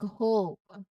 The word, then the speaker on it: hope: Similarly, the final E is silent, but it causes the O to be pronounced as a long O sound, like hope. So if there were no E, it might be hop.